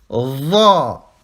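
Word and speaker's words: ظ: Va. Ici, vous mettez votre langue entre les dents.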